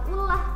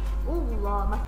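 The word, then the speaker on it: الله: Ketika baca u bukan ullah bacanya ya, tapi Allah. Ketika masuk lamnya itu membacanya pakai huruf o Allah dan mulut kita seolah-olah penuh sehingga disitu disebut dengan tafkhim atau tebal ya.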